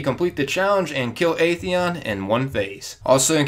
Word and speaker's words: Atheon: and I know know some people call aeon aeon because that is how he is actually pronounced but I'm not that technical all right I've always called him Aon so I'm going to continue to call him